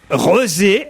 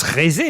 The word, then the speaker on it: Rezé: Rezé, R-E-Z-E, alors, peut-être ça se prononce Rézé, mais ça s'écrit R-E-Z-E. Donc moi je pense Rezé. qu'on dit Rezé.